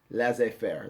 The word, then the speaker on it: laissez-faire: Laissez Faire, that's how you say it, okay?